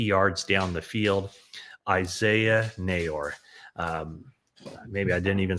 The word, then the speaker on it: Neyor: Uh very tight frame shot, but a a a great catch um from Isaiah Naor, and that's how you pronounce his name.